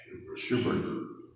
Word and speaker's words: Schubert: Now tell me, do we pronounce it Schubert or Schubert? I never know. Schubert.